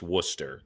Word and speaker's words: Worcester: at Ralph's Diner and Worcester if you uh I know Massachusetts has some like weird Town names it's it's spelled exactly like the sauce and it's pronounced Worcester so I it gets